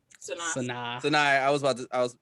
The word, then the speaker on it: Sanaa: I'm about to say her name wrong. Sanaa.